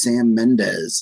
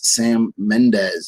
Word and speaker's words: Sam Mendes: was nominated for 1917 this is sam mendez sam mendes that's who we're looking for see how many you